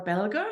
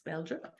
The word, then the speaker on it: Belger: yeah so my mom my name is belger or in English pronunciation that's Belgium um I I was I grew up as